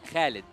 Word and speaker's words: Khaled: actually uh my name my real name yeah is it is Khaled Khaled Khaled yeah okay so that's how we pronounce it yeah KH you tried